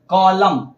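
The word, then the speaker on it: column: ए रहा है ना एम के पहले अगर आता है एन तो क्या होगा साइलेंट होगा एग्जांपल मिल लेते हैं देखिए यहां कलम इसको क्या पढ़ेंगे क्या पढ़ेंगे कलम क्यों पढ़ेंगे कलम वो समझिए यहां पे एम जो आया है वो किसके पहले आया है एन के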